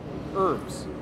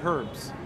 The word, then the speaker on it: herbs: love how you say herbs uh says ashley yeah uh in america we don't pronounce the h we never say herbs uh usually usually people say herbs without ph we dropped